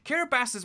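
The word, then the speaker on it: Kiribati: is kiribasi over there don't ignore the tea being pronounced as an S I'm just doing it to appease the comment people but um yeah that's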